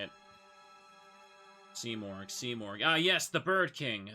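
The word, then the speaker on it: Simurgh: Seamorg.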